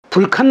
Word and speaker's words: 부르칸: 참고 로 " 부르칸 " 은 " 불칸 " 으로도 발음 됩니다 .